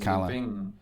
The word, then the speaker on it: Calle: So it's pronounced Calle.